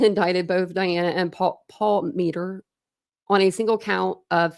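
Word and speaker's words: Palmiter: against Diana and Paul Mettler. I know I say his last name wrong. It's Paul Meter, I think, but I say it Paul Mettler. I put an L in there.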